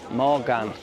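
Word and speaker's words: Mogán: I finally remembered how to pronounce it. Hallelujah. Mogan, without the R.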